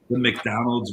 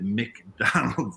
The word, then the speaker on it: McDonald's: You pronounce it McDonald's, not McDonald's. I mean, they can call it whatever they want over there, but they're just wrong.